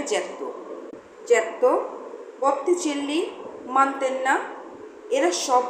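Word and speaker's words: Giotto: গায়াট্টো নয়, ইংরেজি উচ্চারণে জিয়াটো, ইতালিয়ানে জ্যাত্তো।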